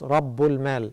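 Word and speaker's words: رب المال: The words taken together are pronounced as Rabbul Mal.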